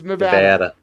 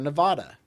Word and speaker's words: Nevada: got their uh Nevada it's Nevada you spell you say it Nevada stop trying to sound stop trying to say it in Spanish it's not Spanish it's not even Spanglish no it's it's a